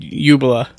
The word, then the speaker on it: Jubela: Okay, so you said Jubela. Right. That is the correct pronunciation.